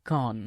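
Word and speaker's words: can't: காண்ட் someone else do this அப்படின்னு கேட்கலாம். இந்த காண்ட் அப்படின்ற வார்த்தையை இந்த வாக்கியத்தில் கான் அப்படின்னு உச்சரிங்க.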